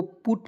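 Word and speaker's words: put: है दोस्तों अपवाद है तो यह पुट को पुट पढ़ा जाएगा पी यूटी को पुट पढ़ा जाएगा ठीक है पट नहीं पढ़ा जाएगा क्लियर चलिए अब थोड़ा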